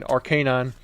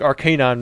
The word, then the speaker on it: Arcanine: I had someone making fun of me for saying Arcanine. I think Arcanine makes way more sense than Arcanine. You know, because you got like the canine unit.